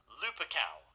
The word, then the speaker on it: Lupercal: By the way, am I the only one who thought that Horus's last name was Lupercal rather than Lupercal? I actually looked up the Roman supposed pronunciation of it, and it is apparently Lupercal.